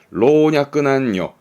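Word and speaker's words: 老若男女: 문법 공부할 때 일본어에서 남녀노소 얘기 많이 나옵니다만 그때 쓰는 한자인데 발음이 어렵습니다. 로냐끄 난요.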